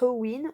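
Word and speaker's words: Samhain: sowind on fait alors ça s'écrit sanamein donc samhd1 n mais ça se prononce au wynn où ça où il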